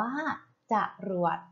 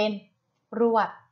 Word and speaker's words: จรวด: คะ จรวด นะ คะ จรวด อ่าน ว่า จรวด ต้อง เติม ขอ ไป ด้วย ถ้า ไม่ เติม จะ อ่าน ออก เสียง เป็น รวด ใช่ ไหม ค่ะ ลูก จะ